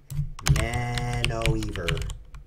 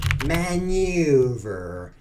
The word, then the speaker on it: maneuver: Manoeuvre. Manoeuvre. Maniover. Manoeuvre. It's one of those. Define maneuver. It's not either of those.